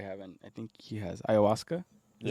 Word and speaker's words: ayahuasca: I think he has ayahuasca. Is that how you pronounce it?